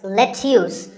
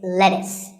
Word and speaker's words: lettuce: i know the spelling looks like it's let's use but it's not it's lettuce and since we're talking